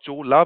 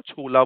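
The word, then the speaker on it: Cho La: आप बोल सकते हो, स्पेलिंग इज CHOLA, है ना, तो उसको आप चोला बोल सकते हो, छोला बोल सकते हो, पंजाबी हो छोला बोल लो, वट एवर योर लाइफ,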